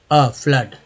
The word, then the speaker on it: FLOOD: अब देखिए FLOOD में डबल ओ का उच्चारण क्या होता है, फ्लड।